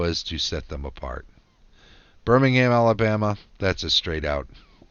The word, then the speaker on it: Birmingham: the British town of Birmingham huh Birmingham I suppose it's stronger on the ham if you are in the UK and you're saying it